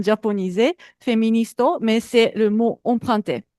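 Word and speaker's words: フェミニスト: En fait, le mot féministe en japonais on utilise le mot anglais féministe prononcé japonisé de prononciation japonisé féministo mais c'est le mot emprunté donc on écrit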